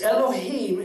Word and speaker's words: Elohim: recorded is the name Elohim the loh I am and I'm sure you pronounce that different than I do but it's Elohim and that's the word